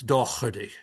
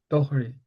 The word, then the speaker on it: Daugherty: this way, but um I was raised with the Irish pronunciation. So, I'm going to try to do this. Um, if you have an Irish accent, it's Dohi. Dohari.